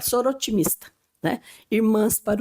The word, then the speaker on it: Soroptimista: O pezinho a gente às vezes nem pronuncia, ele existe ali, né? Então a gente fala sor otimista, né?